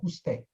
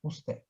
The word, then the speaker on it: usted: Esse D não é pronunciado, tá? Ó, usted. Tá? Então aqui, ó, tira esse é como se tirasse o D na hora da pronúncia, usted.